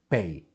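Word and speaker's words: פ: This is the letter Pei. It has a dot inside, so it sounds P, P, P. Now, if it didn't have a dot, it would be F, F, like F.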